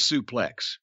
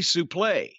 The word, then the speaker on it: suplex: the the word and it is actually supposed to be suplay but it was morphed into suplex somehow but gordon solely and